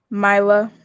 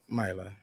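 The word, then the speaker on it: Mylah: a h a h and how is that pronounced assistant myla myla it's pronounced like it's all right there we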